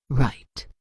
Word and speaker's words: write: Write silent w lamb silent b.